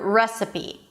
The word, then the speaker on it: recipe: So, let's begin with the word recipe. Recipe. Here you begin with an R sound your lips and then the as in red R.